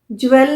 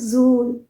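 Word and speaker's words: jewel: dictionary में check कीजिए ज्वेल नहीं है यह दिस इ प्रोनाउंस ए जूल जूल इसीलिए तो ज्वेलरी नहीं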